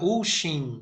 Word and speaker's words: Ocean: Esse meu nome, Ocean, na verdade, se pronuncia Uxin, mas é tão difícil porque vem do gaélico que fica Ocean mesmo e é bonito.